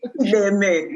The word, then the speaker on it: Chideme: Chideme.